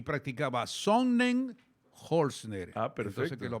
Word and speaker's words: Sonnenholzner: revisando un poco el caminar, el andar, estaba más que practicaba yo por pronunciar bien el apellido. Por gusto, dele con Otto. No. Y practicaba Sonnenholzner.